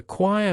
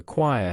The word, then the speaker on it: choir: Being part of the choir has taught me the importance of teamwork and dedication. Choir is short, one syllable.